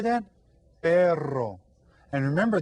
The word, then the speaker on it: perro: Perro. And remember, this one you get to roll your R. So say perro.